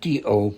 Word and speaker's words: do: And we had the do suffix and it's just D-O, but it's pronounced do, like you do in baking, dough, just to show that as a spiritual way.